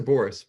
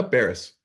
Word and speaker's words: Baris: ready a all right is that Baris or Boris my oh Baris congratulations Baris Baris how